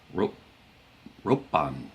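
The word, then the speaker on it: 六本: A pencil would be a long object, but it can be pronounced bone or p. But in this instance, you would use pong with a p instead of bone with a b.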